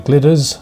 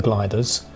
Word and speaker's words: Glyders: to correct myself here I'm wrong about both the pronunciation and my compass bearings the mountains are in fact called the Glitters and not the gliders and in Welsh they're referred to as the glitter ey and the ridge tends